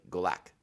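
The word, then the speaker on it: Golak: got the pronunciation right I said it initially with like that hard K that was kind of klingony and it's not it's like galack go back I think I got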